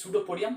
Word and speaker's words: pseudopodium: projection like finger called pseudopodium what is called this is this is this is called pseudopodium this this any anything this is called pseudopodia p is silent s-c-u-d-o-p-i-d-u and pseudo-podium sudo